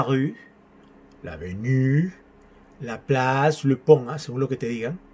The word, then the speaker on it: pont: Le pont. Sonido O nasal. Un.